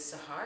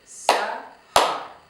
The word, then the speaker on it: Sahar: My name is Sahar and I have 2 syllables. So 2 syllables translated into clapping. So we're going to say Sahar. Do you see that? Again, Sahar.